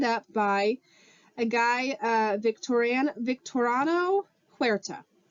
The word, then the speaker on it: Huerta: by a guy, Victoriano Huerta. That may not be how you say his first name. That is how you say his last name, though.